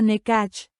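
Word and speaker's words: Nekah: Por respuesta se lleva la mano derecha al corazón, diciendo, Neka, se pronuncia Nekach.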